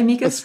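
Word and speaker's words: amicus: how do you say amikas do you say amikas perfect yeah yeah okay amas um we have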